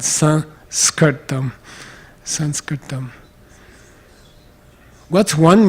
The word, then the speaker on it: Sanskrit: put it s between okay so it's called son skirt dumb Sanskrit them what's one meaning of Sanskrit